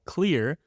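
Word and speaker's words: Xlear: favorite nasal spray is something called clear but it's with an X so it's spelled x-l-e-a-r this nasal spray has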